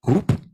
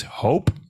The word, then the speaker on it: HOOP: saw this nice project which is pronounced in English hoop uh it it also mentions scalibur it's one of the European projects here from ETA in uh in the technology park of Valencia we're one of the partners in that project as well um the same word you can pronounce in Dutch and it sounds then as hope and in Spain that